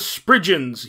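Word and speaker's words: spriggan: the ocg version the deck is known as sprigians yes but with two g's but pronounced as a jew sound sprigions are cornish mythological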